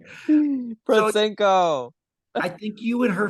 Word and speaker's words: Protsenko: So Protsenko.